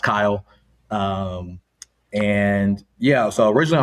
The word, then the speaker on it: Chayil: Um like you said, name is Kyle. Despite what the spelling looks like, um it is pronounced Kyle.